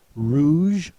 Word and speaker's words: rouge: politically then we have Rouge with a G and a silent E Rouge is the color